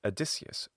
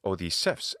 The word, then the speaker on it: Odysseus: than the Roman one, which is, of course, Odysseus, Odysseus, which is Odysseus in modern Greek pronunciation.